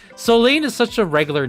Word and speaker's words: Soline: I I guess like I I I've been pronouncing this as Seline, but it's Solene.